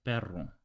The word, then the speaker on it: perro: Double R per per so without exaggerating the Double R it's like this perro horri yeah it's actually